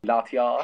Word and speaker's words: Latias: general, Latias. pasta. No, It's I'm- pasta. Oh, shut up. Isn't that how you pronounce Latias? Pasta. I thought it's Latias.